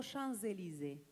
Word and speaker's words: Champs-Élysées: Para que suene re francés, no pronuncias la P de Champs. Los dejé pensando. No es tan difícil, chicos. Es así. En vez de decir au Champs-Élysées, decís au Champs-Élysées.